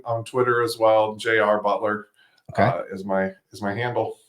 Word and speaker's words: Beutler: us that's our our website um you can find me on LinkedIn uh my last name is spelled funny uh so we say Butler but it's got a random e in there so b t l